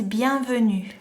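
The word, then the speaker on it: bienvenue: Welcome is bianu. Bianu. Ban vu. Ban vu.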